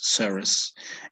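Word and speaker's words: serous: say severus or five bro yes you you pronounce them correctly okay yeah this word comes from serum right so it's saras and uh this word fibers come from comes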